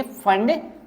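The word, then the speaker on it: Pfund: तो इसको हम बोलेंगे फंड सीरीज पी यहां पे साइलेंट है तो क्या बोलेंगे फंड सीरीज और ये भी आईआर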